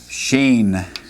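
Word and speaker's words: שׁין: Sheen.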